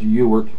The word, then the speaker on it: Ewart: last name it happens often play uh it's pronounced you were you are not sure why but that you